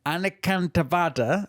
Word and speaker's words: anekantavada: absolute non-violence, and then anekantavada, which is non-absolutism. Now, for this one, I think you need to give it the Indian accent, because I think you're struggling with the pronunciation if you don't.